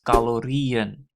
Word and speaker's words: calorieën: Calories in Dutch is calorieën. So singular is calorie, emphasis on the final part. That means placing the en after that is necessary, but to make the pronunciation right, you have to put the double dot on the final E.